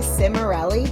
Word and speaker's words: Cimarelli: so excited because I have the incredible Sammy simell did I pronounce that correctly yes you did great yes